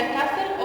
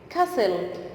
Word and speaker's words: castle: Castle. The T is silent, okay?